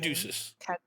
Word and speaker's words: Caduceus: How do you pronounce his name? Caduceus.